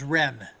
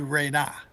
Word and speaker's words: Ren: that the proper phonetic, the proper syllables that go with those shapes should be RE for the wave glyph and NA for the almond-shaped mouth glyph.